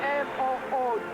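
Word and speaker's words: Moog: this little goalie who spells his name m o g and pronounces it Mo and I don't know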